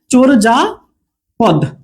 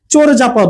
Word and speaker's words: চর্যাপদ: উচ্চারণটা আমরা বলছি চোর, চোর আর অন্তস্থ যা উচ্চারণ হয় না, এটা হবে বর্গীয় যা, চোর যা পদ। ঠিক আছে, এরকম উচ্চারণটা হবে। তাহলে আমরা এটার উচ্চারণ করি চর্যাপদ, কিন্তু এটা আসলে উচ্চারণটা কি হবে? চোরজাপদ হবে।